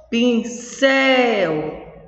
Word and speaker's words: pincel: Pincel. O céu é a sílaba forte.